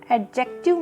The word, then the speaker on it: adjective: देखिए, यहाँ पर हम इसे एडजेक्टिव नहीं बोलेंगे बिकॉज एडजेक्टिव में जो ये डी होता है वो साइलेंट होता है, सो we will pronounce it एडजेक्टिव।